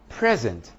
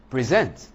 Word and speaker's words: present: or miscommunication for example the word present and present are two different words one is the verb the other is a noun present a noun present a verb spelling is the same but they have different pronunciations and different meanings object